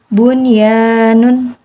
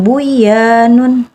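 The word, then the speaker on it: بنيان: menjadi izhar mutlak dunia yang kedua Bun ya Nun Jadi bukan Bu ya Nun tapi untuk izhar mutaq mutlak ini cuman ada 4 kata dalam Alquran dunia Bun ya Nun sama qinun jadi itu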